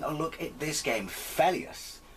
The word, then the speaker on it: Phelios: look at this game felius at least i think that's how you pronounce it that's how i've always pronounced it it's uh running on